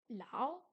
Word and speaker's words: 老: Lao se prononce comme s'il se lit en français, si ce n'est l'intonation de la syllabe.